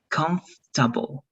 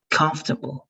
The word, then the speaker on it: comfortable: es como si fuera comfortable. Y la OR, como si la OR estuviera desapareciendo, que lo voy a marcar así. Ya en la pronunciación. Y el estrés va a estar acá. Comfortable.